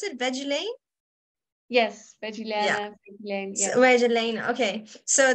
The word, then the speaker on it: Veggilaine: you wearing the veggie is that how you pronounce it veggie Lane yes where's Elaine okay so the I read